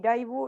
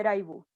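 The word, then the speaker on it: ライブ: Entonces lo que hacen típicamente es cambiarlo a una pronunciación como raibu, ¿cierto? Y también, por supuesto, la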